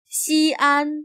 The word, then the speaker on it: Xi'an: Xi'an became the capital of China a few centuries before the Common Era, under the first emperor of China. Notice that the X is pronounced as sh.